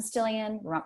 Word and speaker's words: Stillion: It's Stillion, rhymes with million, really easy spelling.